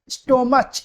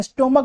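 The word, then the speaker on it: stomach: स्टोम स्टोम नहीं बोलते हैं। स्टमक बोलते हैं।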